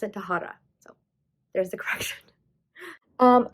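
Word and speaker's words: Tahereh: her name was an f which made me pronounce it taphra but that is not correct it's tahara so want you guys all to know i'm pronouncing it wrong but you pronounce it tahara so there's the correction um i don't really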